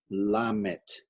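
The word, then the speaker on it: lamed: half triangle over there but that is for pronunciation we learned that later la met and you write it like l m e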